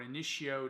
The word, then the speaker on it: Initio: And for today, I have none other than Rehab by Initio. Or Initio, depending on how you want to pronounce it.